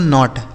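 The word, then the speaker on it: knot: तो के एन ओ टी इसे पढ़ेंगे दोस्तों नॉट। अभी हमने आपको बताया कि कहीं भी के के साथ एल लिखा हो तो वहां के साइलेंट होगा।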